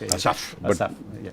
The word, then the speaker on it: Asif: Asaf. But when you pronounce that in Pakistan's national language, which is Urdu, we pronounce it as Asif.